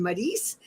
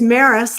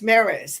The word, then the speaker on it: Maris: beautiful ken ashby and marice is that am i pronouncing that correct madison it's maris like paris with an m okay paris maris thank you thank you